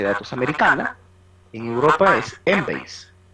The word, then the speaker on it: Embase: Pero en Europa, el par de PubMed, que es una base de datos americana, en Europa es Embase, que se escribe en base, ¿no? Pronuncia Embase.